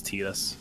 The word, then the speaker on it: Titus: Yeah, Titus can go rot. Yeah, sorry. Oh, by the way, the actual confirmed pronunciation is Tetus.